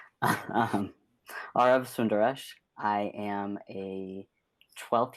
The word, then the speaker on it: Aarav: your name it's pronounced aarov like the letter r emphasis on the first syllable and the second syllable rhymes with love so are of r of sundaresh i am a